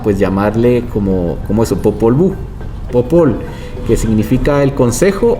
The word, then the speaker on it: Popol Vuh: Eh y también estandariza que la V se convierte en doble V para que se pronuncie de otra ajá, que se pronuncie de otra manera, entonces se establece que se diga Popol Vuh.